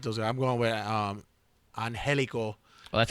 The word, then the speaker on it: Angelico: I'm going with Angelico.